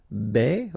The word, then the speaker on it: baisser: Baisser, okay, because A and E together will produce the sound E. Baisser, baisser.